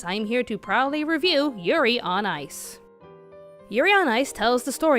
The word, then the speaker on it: Yurio: For the sake of this review, we're just going to call Yuri Plazetsky Yurio, because it rhymes with Cheerio.